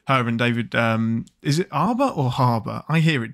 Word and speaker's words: Harbour: Well, I mean, it's spelled H-A, so I assume it's Harbour. So is Herbs. Right. Well, those are herbs. But, yeah, but you're still pronouncing the H, aren't you?